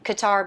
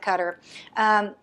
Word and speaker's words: Qatar: In America, for whatever reason, we pronounce it Qatar, but overseas they pronounce it Qatar.